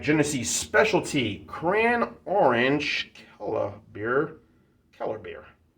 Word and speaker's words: Kellerbier: Kellerbier. Beer is not B-E-E-R, but B-I-E-R. Some places have it spelled that way, more so overseas.